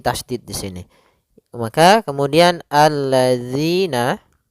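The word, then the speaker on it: الَّذِينَ: Pada lafal zi, hati-hati jangan sampai terbaca dengan zi, karena di sini huruf zal. Yang mana untuk huruf zal sendiri makhrajnya adalah ujung lidah kita menempel dengan gigi seri atas, sehingga atau bisa kita gigit sedikit zi gitu ya.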